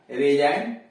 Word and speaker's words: resign: रेजाइन यहां जी साइलेंट कर दिया गया है, त्याग पत्र देना, रेजाइन त्याग पत्र देना, इसमें जी साइलेंट है।